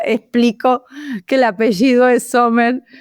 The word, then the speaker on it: Zommer: Hola, hoy estamos con Laura Sommers. ¿Estoy pronunciándolo bien, Laura?